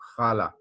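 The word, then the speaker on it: ख़ाला: खाला, देखिए मैं कैसे इसको प्रोनाउंस कर रहा हूँ, खाला, खाला नहीं बोल रहा हूँ, क्योंकि यहाँ पे नुक्ता है ना। नुक्ता जब होता है तो हम ख गले के एंड से आवाज निकालते हैं, खाला।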